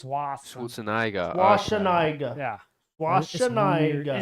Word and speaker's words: Schwarzenegger: Schwarzenegger.